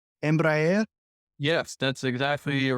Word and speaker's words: Embraer: talk about let me see if I can pronounce this right right uh what's it called Embraer yes that's exactly you're right all right is